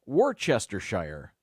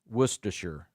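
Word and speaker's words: Worcestershire: people say I'm sure they just sounded out Worchester Shire that's wrong I knew this one it's actually pronounced wer for Americans especially this sauce is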